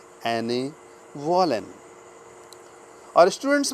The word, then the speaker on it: Annette: एने वॉलेन, ANNETTE, इसका pronunciation एने होता है, ANNETTE, एने वॉलेन, VOLLEN, एने वॉलेन।